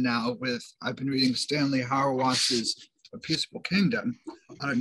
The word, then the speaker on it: Hauerwas: I did just finish a chapter, and I'm almost done now I've been reading Stanley Hauerwas's A Peaceable Kingdom.